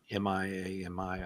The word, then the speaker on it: Miami: Oklahoma spelled like Miami, Florida. M-I-A-M-I, I think it is. But in Oklahoma, you better pronounce it Miami, or they'll throw you out of the state.